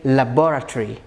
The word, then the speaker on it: laboratory: This is an easiest word, I think, but many people pronounce it as, what do you say? Do you say laboratory? Laboratory. Laboratory. Because we talked about the way you stress the words.